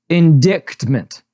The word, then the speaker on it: indictment: All right, and then the main topic is Trump indictment. It's not exactly how you pronounce that word, but I like it. Really? Go on. Okay. How do you say it? Indictment. The C is silent.